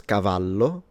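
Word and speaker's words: cavallo: And one last thing I wanted to say is that of course the double L in Italian is just pronounced as a longer slash stronger version of the single L.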